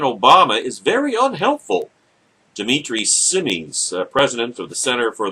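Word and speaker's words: Simes: and doesn't hide it said SS or simis he pronounces it I think that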